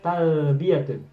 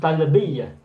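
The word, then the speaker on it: تلبية: Talbiyatun. Tal biatun bukan talbiah tetapi talbiyatun.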